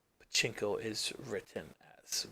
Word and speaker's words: pachinko: So you got pachinko, which is this.